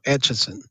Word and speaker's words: Atchison: pronounce it dale casparic it's at a t and then chisin so atchison there's no end in there so i know that